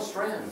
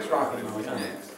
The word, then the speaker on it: Strachan: When you say it, Owen Strand. Is that how you say it? Yeah. It looks like Strachan.